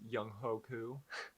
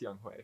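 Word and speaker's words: Younghoe Koo: of the week is young hoku yeah i forget that his he's got it's just young ho i think he's pronounced oh it's pronounced young hue for sure defense of the week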